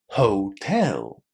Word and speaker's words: hotel: And then we need to put the stress on the second syllable, not the first second syllable.